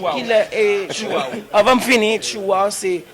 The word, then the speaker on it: Chihuahua: En France, TCH. Non, il faut dire Chihuahua. Chihuahua. Non. Elle soit dire mon check. Ah ben c'est même pas là. On va prononcer le TCH.